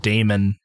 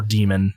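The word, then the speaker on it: Daemon: their their latest album Damon or demon it it's spelled D AE m o n uh is reviewed pretty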